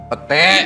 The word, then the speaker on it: pete: Ternyata anak muda ini lahir di Kanada, pindah ke Belanda, tapi suka makan pit. Bener? Pete. Iya. Iya, bacanya pete.